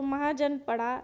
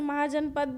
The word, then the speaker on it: महाजनपद: महाजनपद या तो महाजनपड़ा, वैसे महाजनपद भी आप प्रोनाउंस कर सकते हैं.